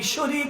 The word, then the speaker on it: শিরক: শিরিক। অপরাধের জগতে গুনাহের জগতে জুলুমের জগতে সবচেয়ে বড় অপরাধ হচ্ছে শিরক কোনটা শেরেক না শিরক আমরা অনেকে উচ্চারণই করতে পারি না শেরেক না শব্দটা শব্দটা কি